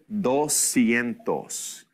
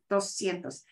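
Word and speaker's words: doscientos: 200 okay so 200 dos sientos and literally we're putting those two words together dos sientos and the S and the c i all make the S sound so dos sientos if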